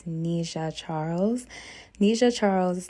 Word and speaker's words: Nisha Charles: that she deserves and to also correct the pronunciation of her name it is Nisha Charles Nisha Charles is not